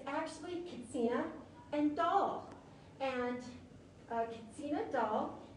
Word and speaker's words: Katsina: I've been told that in Hopi, they don't have the H, so it's not Kachina.